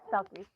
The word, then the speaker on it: Selkies: Uh, Sulkis. Pronouncing that right? Sulkis. Yes. Selkies.